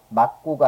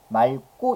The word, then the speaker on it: 맑고: 앞에서 어떻게 리을로 발음해요 그래서 맞고가 아니라 맑고 이렇게 발음되는 거고요 뒤쪽에 된 수리 발음되는